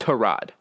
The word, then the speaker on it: Tyrod: quarterback his name is spelled Tyrod but it's pronounced to rod people want to be different yeah okay now